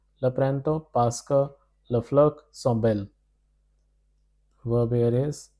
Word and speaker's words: fleur: This means tu aimes le printemps parce que les fleurs sont belles, because that is you love spring because the flowers are beautiful. Flowers. Pronounced as fleur.